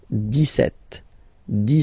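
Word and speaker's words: dix-sept: But then for the pronunciation, 17. Okay, so you don't insist on the S. 17, 17, 17.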